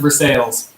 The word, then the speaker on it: Versailles: Yeah, it's pronounced Versailles.